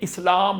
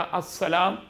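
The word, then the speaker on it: السلام: क्योंकि ये सीन हरूफ शमसी है। हरूफ शमसी से पहले लाम लिखा तो जाता है लेकिन वो खामोश साइलेंट होता है। उसकी आवाज नहीं आती। तो अगर लाम नहीं लिखेंगे इस्लाम पढ़ा जाएगा। अस्सलाम नहीं पढ़ा जाएगा।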